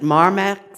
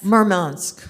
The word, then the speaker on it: Murmansk: a mic um the city i'm going to mispronounce it marmot murmansk yeah is that on the is that on